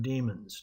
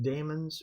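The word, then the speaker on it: daemons: it fires up some demons now you can pronounce that demons or demons either ones fine I'm going to call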